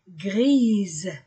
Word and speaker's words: grise: gris la robe est grise s entre deux voyelles se prononce ze grise la robe et